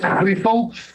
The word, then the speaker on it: Griessel: In Afrikaans, it's Griessel. We don't expect people from other languages to say it in that way. Although the Dutch can. I think the Dutch are able to do that.